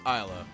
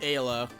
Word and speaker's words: Ayla: is fine and yes her name is pronounced isla not ayla or whatever how you wanna i don't know you could probably pronounce it ayla isla it's all good everyone's learning good ass